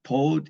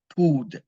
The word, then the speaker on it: pud: It's not pod, it's pud, P-U-D.